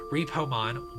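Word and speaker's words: Reapomon: like the previous one, it is spelled R-E-A-P-O-M-O-N, like Reaper and Repo.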